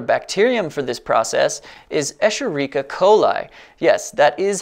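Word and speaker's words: Escherichia coli: bioethanol a popular bacterium for this process is escherica coli yes that is how it is pronounced e coli is easy to engineer prolific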